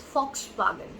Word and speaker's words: Volkswagen: It's Volkswagen. So basically, when this company created the car, it was for the people. So Fox and wagon, that means a car. So that's how the name Volkswagen in the early 1900s.